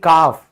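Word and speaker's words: calf: बछड़ा यानी कि काफ, ठीक है, फिर इसमें भी क्या हुआ, एल से पहले ए लिखा हुआ है, इसीलिए एल साइलेंट हो गया।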